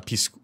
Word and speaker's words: Picsou: La bande à Picsou. No, Picsou, not Piscu. Picsou.